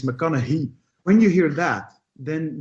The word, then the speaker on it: McConaughey: there first of all there's a debate how you pronounce his name but non-english native speakers we would say mechanic ghee or but apparently it's McConaughey when you hear that